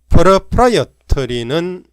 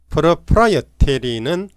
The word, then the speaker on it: proprietary: proprietary는 영국식 발음이고 proprietary는 미국식 발음입니다.